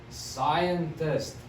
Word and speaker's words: scientist: g then we have scientist scion test scientist you don't hear that c it's a scientist then